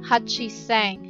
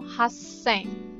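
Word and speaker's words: 八千: Tapos yung 8, diba? 8,000, dapat diba yun? Hachi seng. Pero hindi. Pag 8, instead na hachi, ang sasabihin mo, haseng.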